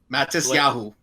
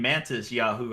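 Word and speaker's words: Matisyahu: Matis Yahu. Okay, Yeah. I thought you were saying Mantis Yahoo.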